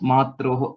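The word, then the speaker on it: मात्रोः: These two were not pronounced correctly. So please make a note of it. It's just Matroho.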